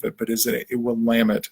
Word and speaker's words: Willamette: the name of it but is it it will lam it not Willamette so we're looking to build that locomotive pull